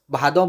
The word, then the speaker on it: भाद्र: वाला सावन और भादों, भादों बोला जाता है यहाँ। ठीक है, हमारी तरफ भाद्र, ऐसे असली में उसका प्रोनाउंसिएशन भाद्र होता है, लेकिन हमारी तरफ भादों बोला जाता है, श्रावण एंड भादौ।